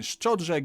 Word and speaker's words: szczodrze: I have not yet been szczodrze given the opportunity to sell myself out.